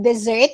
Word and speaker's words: dessert: education was correctly pronounced dessert was correctly pronounced so if it has double s with this one it's dessert if it has single s it's desert if it's dessert then it